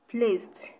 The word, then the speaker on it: placed: Option A is pronounced placed, placed. The D is pronounced as T, placed.